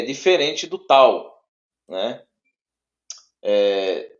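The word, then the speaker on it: ταῦ: próximo próximo é o tal tal som de t t isso de tatu né som de T de tatto então sim se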